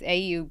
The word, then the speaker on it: AYU: To be honest, it's AYU, but when I did name the brand years ago, I probably didn't think about the pronunciation very well.